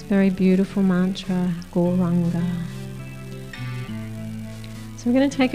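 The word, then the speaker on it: Gauranga: So the mantra Goranga, said in 4 syllables.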